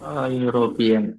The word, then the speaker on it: European: European, European, ಹೇಳ. A European. Super, sir. Thank you. European. You ಅನ್ನೋದು, although it starts with E, we pronounce it as U.